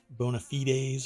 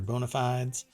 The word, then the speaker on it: bona fides: around with this word bona fides or bonafides depends on how you want to pronounce it um but i think it's bona fides anyway for the ford